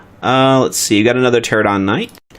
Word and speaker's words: Pterodon: We got another Pterodon Knight. The P is silent in Pterodon.